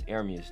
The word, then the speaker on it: Ermias: It's Ermias, though. That's how you say it.